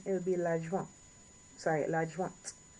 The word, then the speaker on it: adjointe: would be l'adjoint, sorry, l'adjointe, l'adjointe. Make sure you get that T, so l'adjointe.